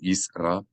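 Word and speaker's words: ישראל: You should not say Yisrael or Yisrael, but Yisrael. The Aleph makes a sound, an abrupt distinction between the syllables. Yisrael and not Yisrael. Yisrael.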